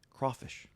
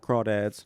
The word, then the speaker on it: crawfish: most famous dish, crawfish. Not crawads, not crayfish. Crawfish.